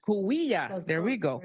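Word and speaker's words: Cahuilla: Did I pronounce all that right? Coahuila. There we go. Coahuila.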